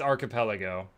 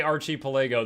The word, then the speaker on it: archipelago: a 300 range Circle how do you say it's archipelago if you've heard me say Archie poo that's to drive people nuts I also enjoy shampagne